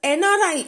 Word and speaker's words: NRI: suppose NRI is given, so N is a consonant, but since the pronunciation is N, that is EN, or MLA, that is EM, so before that an MLA and NRI we will write instead of A.